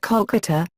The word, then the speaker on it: Kolkata: 2001 when it was changed to Kolkata in order to match Bengali pronunciation history the discovery and